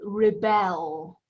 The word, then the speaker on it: rebel: about this one and we can pronounce this in two ways if it's a verb we say rebel we rebel against someone